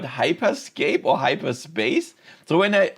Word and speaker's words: Hyperscape: And nobody uh noticed that I pronounced it wrong. I mean I I in my video I called it Meta Horizon Hyperspace but it's called Hyperscape at least I think